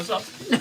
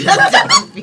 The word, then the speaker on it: Zappi: I totally mispronounced that name. Nadia Zapper. Nadia Zappi. You gotta throw the accent on it.